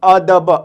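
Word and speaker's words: ادب: ज़बर अ, दाल ज़बर द, बे ज़बर ब, अदब, अदब।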